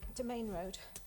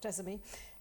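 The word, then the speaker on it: Demesne Road: um Mr Speaker um domain road is the way you pronounce it um not desame um so the minor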